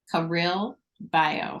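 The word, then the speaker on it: Career Bayo: Career Bio. So Career, like it's a play on career, but Career and Bio, like BIO, but it's spelled BAYO.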